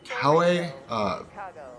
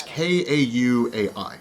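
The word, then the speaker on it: Kauaʻi: I don't know how to pronounce the name. It's called the Garden Island in Hawaii, but it's Kauai, Kai, I'm not sure. It's Kauai.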